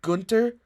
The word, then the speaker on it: Gunter: But I think here, if he picks Kent Gunter, I'm gonna pronounce him Gunter like it's a German last name.